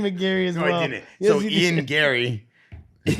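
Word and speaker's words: Ian Garry: it's his first lost you're saying his name wrong too now why he said McGary that's his name no it's it's Ian Gary st stop stop stop Ian Gary okay so obviously said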